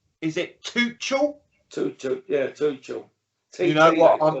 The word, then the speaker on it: Tuchel: Yeah, Tuchel.